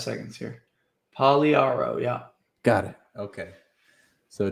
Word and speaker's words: Pagliaro: The G is silent and the last I is silent. Wasn't that what it was? Pagliaro. 5 seconds here. Pagliaro, yeah.